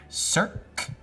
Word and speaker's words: Cirque: No, I'm just not good at pronouncing stuff. How do I say it again? Cirque.